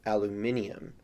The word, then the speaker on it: aluminium: because for example aluminum in other countries that speak English is pronounced aluminium where the spelling has IU M at the end most elements like sodium